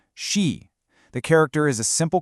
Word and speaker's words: 十: This is 10, pronounced she. It's a rising tone, she.